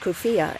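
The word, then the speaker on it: keffiyeh: shot leaving one paralyzed the cier pronounced kfia in formal Arabic has long been a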